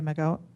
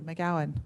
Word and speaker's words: McGowan: again from Sir from Sherry mcgo Sherry mcgoan thank you McGowan I said it wrong it's actually oh